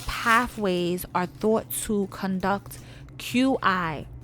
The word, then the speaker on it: Qi: are thought to conduct Qi pronounced Chi a form of energy